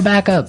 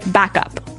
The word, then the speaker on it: backup: You have to say backup. Backup. Backup. Yeah. So both words are stressed at about the same level, hey?